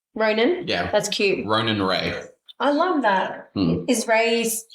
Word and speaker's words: Rhea: And then Ray for the girl is spelled R-H-E-A, which is mother of gods in Greek. Is it? Yeah. Or Rhea. But it's... Rhea, yeah. I would pronounce it Ray.